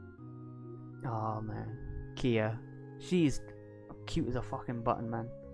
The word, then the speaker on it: KeA: actually end up attending like kia yeah ikea that's how i've been pronouncing it kia so i pronounced it right this is the first